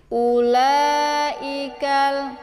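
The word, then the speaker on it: أولئك: على كل شيء قدير Ulaikal, u-nya dibaca pendek ya. Waw yang tanpa berharakat ini dinamakan dengan waw ziyadah. Jadi bukan waw huruf mad ya. Jadi u-nya tidak usah dibaca panjang.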